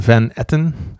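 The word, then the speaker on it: Van Etten: with the beautiful Sharon Van Eton nice it's a beautiful Dutch name pronounced in English yeah I was going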